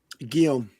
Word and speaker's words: Guillaume: Guillaume. Guillaume like Briand. like Gium.